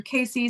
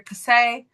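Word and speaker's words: Cayce: Edgar, his last technically his name is French and so I can't say it right. Um, some people will say Edgar Casey, some people will will say Edgar Cass. Um, it's up to you. Whatever floats your boat.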